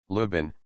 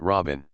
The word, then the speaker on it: Luo Bin: Lubin, Luo, the 4th tone, Pin, the 2nd tone. Don't pronounce it Robin.